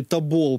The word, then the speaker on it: Тобол: Украину такого преимущества Ну проверил всё-таки Тобол правильно говорить значит река Это в России